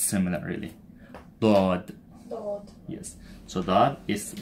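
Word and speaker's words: ض: So we have this, but with a dot, and this is dod. Dod. Again, you are exaggerating the sound.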